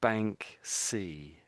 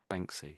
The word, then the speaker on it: Banksy: And it it's the word bank and then it's we sort of say C on the end. So we're saying bank C. Bank. That makes sense. Banksy, that's his name.